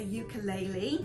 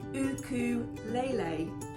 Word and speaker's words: ukulele: they taught us how to play um a ukulele which I thought was native to Hawaii but apparently the Portuguese bought it over to Hawaii and the proper pronunciation of a ukulele is actually uku Lele I thought was interesting because I always pronounced